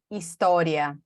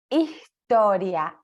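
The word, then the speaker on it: historia: a palavra história porque um argentino vai aspirar essa letra S né Marley vocês aspiram a letra s como você pronuncia história história história e certamente Lula esse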